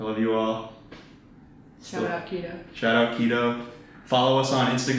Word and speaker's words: KEEDOH: our KEEDOH camp, KEEDOH, it's pronounced just the way it's spelled.